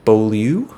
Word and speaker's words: Beaulieu: These are by Bradley P. Beaulieu, I believe is how you say his name.